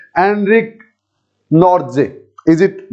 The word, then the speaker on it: Nortje: Yes everyone, सो आज हम सीखेंगे कि हाउ to pronounce Anrich नॉर्जे। इज it Nokia, Anrich Nokia, और इज इट एंड्रिक नोकिया, और इज it just Anrich नॉर्जे?